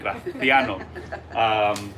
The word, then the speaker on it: Graciano: That's how they say it in Spain, Graciano.